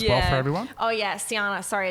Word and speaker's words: Sjana: Oh, yeah, Siana. Sorry, it's a really complicated name. SJ, just to throw you off, ANA. But, yeah, looks like Sjana, but pronounced like banana. Siana.